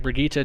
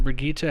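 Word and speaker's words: Brigitte: want to say it I think it's like brigita technically is how they say it in the game but uh I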